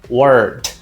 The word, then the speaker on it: word: Palavra em inglês é word. Olha o nosso R aqui de novo. Por isso que eu passei ali antes, ó. O R sempre vai ter esse som, não vai? De língua enrolada.